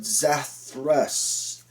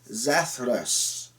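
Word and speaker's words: Zathras: the family of zethress a slight difference in pronunciation so zach thrust zathrus that comment down below anybody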